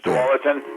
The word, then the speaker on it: Tualatin: It looks like it's spelled Tuala. Oh, Tualatin. It's Tualatin.